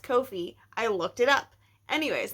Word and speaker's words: Ko-fi: It's pronounced Kofi.